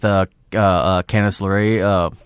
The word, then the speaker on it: Candice LeRae: I enjoyed the fuck out of it, and I like a lot of people are speculating right now with Candice LeRae.